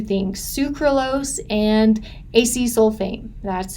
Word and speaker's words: acesulfame: But we've also added 2 things, sucralose and acesulfame.